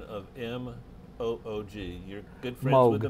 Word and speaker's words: Moog: opportunity for you to tell me the correct pronunciation of M O OG you're good friends with the man Moog so it's Moog Bob Moog all right so some people say